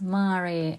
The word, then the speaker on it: Mare: So this is Latin for sea and it's pronounced mare, and truly this is a sea in a jar.